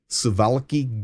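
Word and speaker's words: Suwałki: called the called The suvalki Gap I know it's a w but it's pronounced with a V sivalecki Gap it is a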